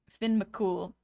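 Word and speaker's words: Fionn mac Cumhaill: Fionn Macomhill is pronounced Finn McCool.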